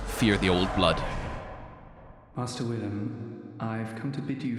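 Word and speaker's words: Willem: time either it's just it's Willam it's not William it's it's the same name it's it's just two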